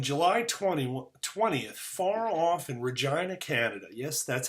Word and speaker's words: Regina: Today's article details the end of an appeals process for a trial that began on July 20th, far off in Regina, Canada. Yes, that's how you pronounce that.